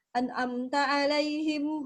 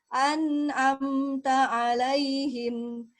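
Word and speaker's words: أنعمت عليهم: Jadi bacanya begini, an'amta alaihim, nah itu kurang tepat. Ya, kenapa? Kenapa ndak enak? Ya, karena kurang tepat. Ya, kenapa kurang tepat? Karena ada sifat nun dari segi suara yang tidak dia berikan, yaitu namanya sifat at-tawasud, mengalir sedang. Jadi bacanya an'amta alaihim, an'amta alaihim, mengalir.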